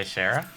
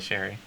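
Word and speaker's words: Cherryh: i said it wrong oh no it is cj sherry i don't know if it's shera sherry it's c-h-e-r-r-y-h but she is a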